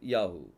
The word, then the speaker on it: Yahu: யா அடுத்தது என்னது யாகு ஒரு பெயர்ல ஆரம்பத்தில் வந்துச்சுன்னா அது யா அப்படிங்கிற உச்சரிப்பு வருது ஒரு பெயர்ல கடைசில வரும்போது அது யாகுன்னு சொல்லி என்ன செய்யுது உச்சரிப்பு வரும் சோ இதுதான் கர்த்தருடைய பெயரை